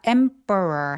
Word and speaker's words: emperor: 자, emperor 할 때 emperor라고 피 발음해도 되고 안 해도 됩니다.